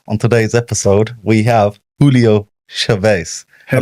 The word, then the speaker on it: Julio Chavez: On today's episode, we have Julio Chavez. I pronounced it right.